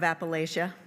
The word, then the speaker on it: Appalachia: I'm a child of Appalachia, but I was raised in Ross County, so I say it like a northerner, but it still counts.